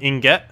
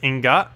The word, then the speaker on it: ingot: Stop telling him Inget. It's not Inget nor Ingot. It's Ingot.